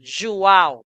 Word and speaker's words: João: Laura, la J, la letra J de Joao se pronuncia como una Y de nuestro español. Joao.